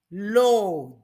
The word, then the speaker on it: loo: Lo, just as it's spelled. L-O-O, lo.